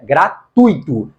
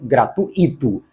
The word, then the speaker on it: gratuito: Até porque a pronúncia é gratuito e não gratuito.